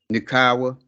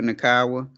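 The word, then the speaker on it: Nacua: receptions 95 yards puka uh how do you pronounce his last name naawa puka naawa six ceptions 34 yards and a touchdown uh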